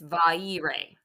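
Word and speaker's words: Vairë: I don't know, there, but I looked up the pronunciation and it's Vaire.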